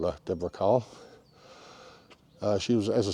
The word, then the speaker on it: Deborah Kerr: I found out that she herself pronounced it as Deborah car so that's how we're going to call her Deborah car uh she was as